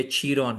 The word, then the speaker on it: Chiron: जो लिखा है किंग कायरन ये वो यह पूरा गलत समझ समझा गया है क्योंकि पहली बात यह कायरॉन या कायरन नहीं है यह चरोन है।